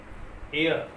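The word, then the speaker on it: heir: आया हुआ एच, और सम टाइम जैसे एयर, ये हेयर नहीं है, एयर, तो इसमें EIH और EI से पहले आया हुआ H, दोनों कंडीशन में क्या रहेगा, साइलेंट रहेगा।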